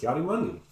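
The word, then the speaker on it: Ki-Adi-Mundi: Kiadi Mundi.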